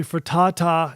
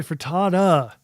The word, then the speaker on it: Furtado: Nelly Furtata. No, Nelly Furtada. Stop with the tata.